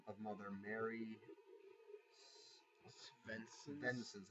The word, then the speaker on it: Svensson: Svensson, I guess the S is silent.